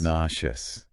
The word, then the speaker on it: nauseous: And the emphasis is on the first syllable.